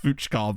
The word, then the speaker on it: Fucker: Bear in mind, that is his real name, and I know it's pronounced Fuchkar, but still.